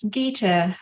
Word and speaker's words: Gita: Yeah, it's Gita. Gita, sorry.